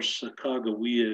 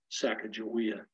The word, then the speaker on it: Sacagawea: You can call her Sacagawea if you wish. I'm from Montana, so I call her Sacagawea. That's the Shoshone pronunciation.